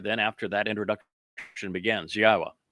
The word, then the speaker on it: Yahweh: Then after that introduction begins, Yahwa, which is the proper pronunciation of God's one and only name as directed by his Torah teaching regarding our higher existence and our shalom restoration.